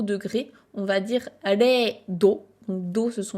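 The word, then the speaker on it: 零: Ça va être le kanji qui se prononce rei.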